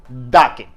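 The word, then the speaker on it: the: Definite article বলতে আমরা বুঝি দাকে। এই দাকে দুইভাবে উচ্চারণ করা হয়, একটা দা, আরেকটা হচ্ছে দি।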